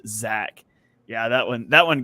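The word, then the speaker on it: Zech: yeah it's crazy it's spelled z-e-c-h but pronounced Zach yeah that one that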